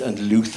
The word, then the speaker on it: Louth: There was a small town in Lincoln called, in Ireland it would be pronounced Louth, but it's pronounced Louth, I think, or Louth, or whatever.